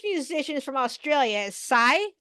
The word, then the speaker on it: Sia: Is Sia? Did I say her name right? Sia? C? SIA? That's Sia. Sia.